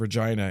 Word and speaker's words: Regina: quarters, at the residence of the University of Regina in Saskatchewan. And that is how you pronounce it. I'm sorry, everybody. For those of you who weren't prepared for me to say Regina.